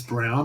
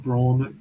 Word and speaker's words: Braun: Definitely that it's Brown and not Braun. I just said Braun, didn't I? I think you did, but I mean it's spelled that way, so I'll forgive you for that.